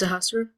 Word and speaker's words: Sahasra: Sahasra. Pronounce it for me again. My name is Sahasra. Sahasra.